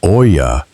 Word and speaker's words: olla: Olla, pronounced "oy-ya," is simply the Spanish word for pot.